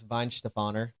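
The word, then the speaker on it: Weihenstephaner: That one's Vine Stefoner.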